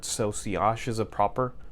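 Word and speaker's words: sillage: word it's si OSH technically it's a French word so see ash is a proper pronunciation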